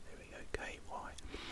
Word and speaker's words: Kyeemagh: Now this is called Kyeemagh. I think that's how you pronounce it. There we go. Kyeemagh.